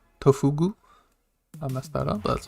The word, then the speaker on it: Tofugu: below the video it is a website called tofuga tofugu i messed that up that's okay and it